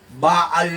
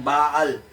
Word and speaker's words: Baal: Pero mas tama ang pronunciation ng Pinoy dahil may pagka-hebrew rin tayo. Alam niyo ba ang Pilipino nadkubre nila meron tayong lahing semitic parang ancient Israel. Baal 'yan. Baal. Kahit sa Hebrew baal ang accent niyan.